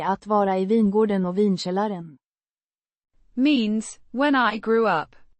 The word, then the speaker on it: vinkällaren: Pronounced. Vinkällaren. With emphasis on the first syllable.